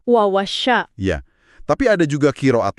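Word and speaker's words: وَوَصَّىٰ: Mayoritas ulama membacanya wa-wasso dengan tasdid di huruf sod. Ada penekanan di situ. Wawasya.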